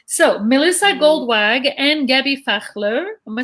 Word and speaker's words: Fachler: Okay, so Melissa Goldwag and Gaby Fachler.